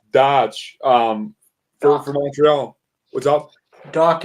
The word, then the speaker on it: Dach: Dach, as in you docked it somewhere. That's how you pronounce his name.